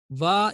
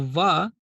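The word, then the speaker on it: و: Va is also a thin letter, meaning it will be pronounced with a thin sound with an empty mouth.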